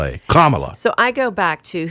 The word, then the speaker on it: Kamala: and then lower m a hyphen l a carmilla so i go back to who's the actress that plays her on snl maya rudolph okay so she in one clip i saw says my name is kamala rhymes with pamela so i always do that